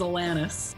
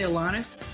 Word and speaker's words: Alanis: us the correct pronunciation there is no correct i've really come to terms with the fact the canadian version is atlantis yeah but a lot of people say alanis elena's alanis oh i really don't